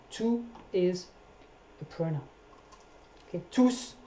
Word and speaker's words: tous: Okay, tous, when you do pronounce the S, it's a pronoun as well.